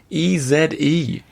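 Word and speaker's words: Èze: a paland drum yeah e z e is e z e for all you americ do not pronounce the last e is there there so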